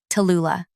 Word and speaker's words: Tallulah: My name is Tallulah, not Tally, not Lou, Tallulah. The full 3 syllables demand attention, much like I do.